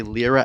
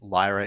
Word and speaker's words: Lyra: Uh or as I say, LRA 8. Although I do believe Lyra is correct.